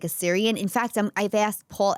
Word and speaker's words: Assyrian: Syrian? Yeah. No, Assyrian.